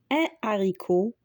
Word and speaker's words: haricot: On dit un haricot, des haricots. Et on ne dit pas un haricot, des haricots.